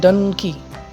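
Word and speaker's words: donkey: যেমন যদি একটা এক্সাম্পল নেওয়া যায়, যেমন ডানকি, এই শব্দটাতে আমরা দেখব যে দুটো সিলেবল আছে, ডান অ্যান্ড কি। তাহলে এখানে আমাদের স্ট্রেসটা হচ্ছে ডানের উপর, ডানকি ডানকি ডানকি।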